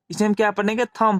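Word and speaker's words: thumb: यहां B silent रहेगा थंब पढ़ेंगे क्योंकि एम के बाद भी है इसलिए यहां भी शैलेंद्र रहता है तो इसे हम क्या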